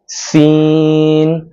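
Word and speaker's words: سين: তারপরের হরফের নাম হলো সিন। সিনটা উচ্চারণ করতে হবে জিহ্বার আগাটা নিচের যে দাঁত আছে এই দাঁতের আগার সাথে লাগিয়ে মুখ থেকে বাতাস বের করে তারপর সিন উচ্চারণ করতে হবে সিন সিন সিন সিন সিন।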